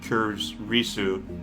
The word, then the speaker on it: Kurisu: I do know that, maybe not all Asian languages, but definitely Japanese, it's consonant, vowel, and you pronounce that entire block as a single sound. So it's Makisi, or something along those lines, Kurisu.